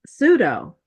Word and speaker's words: pseudo: And then there's another one that's very interesting and it your vocabulary and it's pronounced pseudo. It's spelled p s e u d o pseudo.